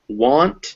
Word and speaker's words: want: Now an A after a W sound, which remember QU is pronounced qua in English with that W, unless it is followed by a K, a G, or an NG, it'll be ah. So want and watch, but not wag.